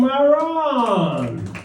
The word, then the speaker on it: Marrron: Welcome, Marrron! Did I pronounce that right?